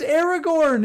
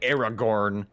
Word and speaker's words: Aragorn: hold up arrow yeah it's Aragorn that's how you pronounce it it's Aragorn it is what you